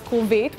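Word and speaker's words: כרובית: Well, if you have, then you know why today's word of the day is kulvit, which is how you say cauliflower in Hebrew.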